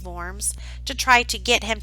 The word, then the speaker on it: Worms: They had called him to the Diet of Worms, or Worms as it looks like it's spelled, but it's pronounced Worms, to try to get him to recant.